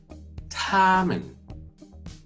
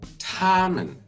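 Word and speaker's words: 她们: called tamman harmon then the female they is tommen tamman pronunciation is the same but again the characters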